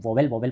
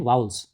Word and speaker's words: vowels: Students इसको ज़्यादातर बच्चे जो हैं वोवेल पढ़ते हैं, बट इसका करेक्ट प्रोनाउंसिएशन है वाउल्स। करेक्ट प्रोनाउंसिएशन क्या है, वाउल्स।